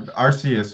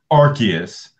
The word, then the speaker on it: Arceus: it's infinitely God our Arceus or a mom they pronounce it Arceus which is just stupid it's Arceus yeah say that would